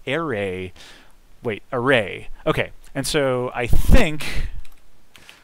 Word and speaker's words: array: you pronounce array wait array okay and so i think i think the emphasis is like this array or i don't know